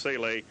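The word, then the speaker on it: Salaj: year old dan saleh s-a-l-a-j but pronounced celes also of lincoln place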